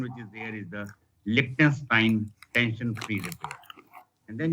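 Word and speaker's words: Lichtenstein: the lens Prim some people call it a Lenin repair some people call Lenin repair but the correct pronunciation which is there is the lonstein tension free repair and then you can have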